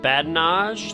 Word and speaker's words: badinage: It's called Badinage. That's spelled bad in age, all is one word.